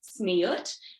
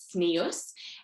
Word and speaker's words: tzniut: our topic for tonight is smeot also sometimes pronounced smius and incorrectly translated as